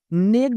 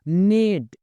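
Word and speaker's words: neighed: horse घोड़ा नेट कम ये जी एच लगा हुआ है इसको नेगड नहीं पढ़ेंगे जी एच साइलेंट रहेगा नेड यानी हिन हिना या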